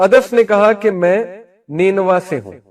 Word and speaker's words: نینوا: تو عدس نے کہا کہ میں نینوا سے ہوں. نینوا اس کا تلفظ ہے NINEVEH.